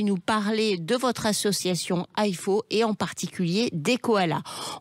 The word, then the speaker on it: IFAW: Et déjà, IFO, ça s'écrit I-F-A-W.